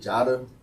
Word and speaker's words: Jotta: You was probably locked up during this shit, but I used to call myself, like. Okay. You know what I'm saying? And my homeboy just pronounced the shit Jotta.